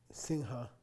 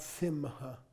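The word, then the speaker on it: siṃha: or like that or sinha a lion okay not sim maha okay so the prenatal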